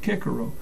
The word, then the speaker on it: Cicero: the wise old Roman sinic Cicero also says pronounced kiaro always asked with a plent double dative obviously